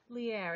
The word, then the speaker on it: Lierre: is that right Lee err it rhymes with Pierre Oh Pierre Lee air okay Lear